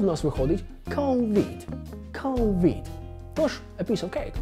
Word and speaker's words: COVID: Стосовно другого складу від, воно вимовляється так, як і українське слово від. Тому в нас виходить COVID. COVID.